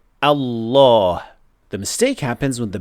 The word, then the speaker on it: Allah: Finally, another very common mistake is pronouncing the heavy lamb in the best name improperly, not fully heavy or fully light. Normally, when we say the best name, we say Allah.